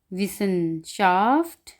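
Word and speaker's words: Wissenschaft: आगे है कि जब डबल एस आ जाएगा तो ये किस चीज़ की आवाज़ देगा, वो देगा सीन की, सीन, सीन। ठीक है, जैसा कि मिसाल के तौर पर विसन, विसनशाफ्ट यानी कि साइंस।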